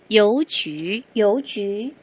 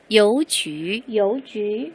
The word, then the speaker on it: 邮局: 여기에서 우리가 발음할 때 하나 주의를 한다면 이 쥐 부분인데요. 여기 그냥 유라고 적혀 있지만 평범한 유가 아니다 라고 했었죠. 우리 표기법 할 때. 지치시 뒤에는 자, 여기는 유는 뭐가 생략된 녀석인가요? 네, 땡땡이가 생략되어 있는 거예요. 그래서 뭐라고 소리를 내요? 쥐라고 소리를 내줘야 합니다. 여쥐라고 읽는 거 잊지 마시고 다시 한번 소리 내볼게요.